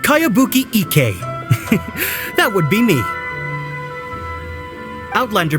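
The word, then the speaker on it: Kayabuki Ikkei: By Kawabunga Iki. Yomiya, this is a really strange name. Who's this Kawabunga? It's pronounced Kayabuki Ike.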